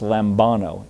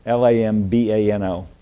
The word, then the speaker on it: lambano: the New Testament is a Greek word uh pronounced lambano l-a-m-b-a-n-o lambano is uh let me make sure I